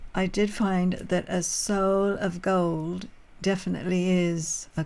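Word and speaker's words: sol: of course, but I did find that a soul of gold definitely is a coin of gold from, and that's the pronunciation for in French.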